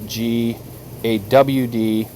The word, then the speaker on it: Gad: And I don't know if anybody is interested, but we did do a video on GAD, which is pronounced GAWD, which is the name of a mighty one, the fallen.